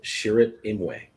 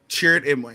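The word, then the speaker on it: Chirrut Îmwe: hearts of, according to Chirrut Imwe? Chirrut Imwe. I don't know how to pronounce that. Chirrut. You had it right the first time. Yes. Chirrut Imwe. Yeah. You had it right the first time.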